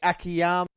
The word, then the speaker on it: Akiyama: Monty, you're going to have to help me out here, because it was Akiyama, the right way to say his name.